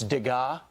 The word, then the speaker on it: Degas: And Will, you told me I mispronounced the artist's name. Yeah. It's Degas.